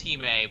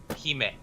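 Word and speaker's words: hime: those in the chat it's pronounced he may but it's it's a japanese word for princess which means h-i-m-e he may yep because she's got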